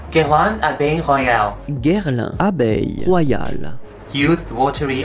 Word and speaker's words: Guerlain Abeille Royale: นั่ น ก็ คื อ ตั ว นี้ น ะ ค ะ ก็ คื อ ตั ว Guerlain Abbé Royal น ะ อ อ ก เ สี ย